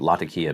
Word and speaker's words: Latakia: I like cubed white burley and oriental forward Latakia mixtures.